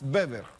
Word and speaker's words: Weber: Mire, había un autor, un sociólogo famoso en Alemania, Max Bever, se escribe Weber.